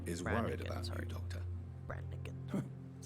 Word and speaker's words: Branagan: irresponsible nurse branagan is worried about you Doctor Branan that's how you pronounce it she should not have told you